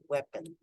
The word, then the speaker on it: weapon: this one weapon weapon so it's not we but weapon uh Aura your turn